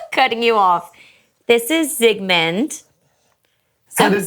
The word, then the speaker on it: Zygmunt: This is Zygmunt. So how did we get the name? I'm on it. So Marley / Sigmund Freud, which is how you pronounce it.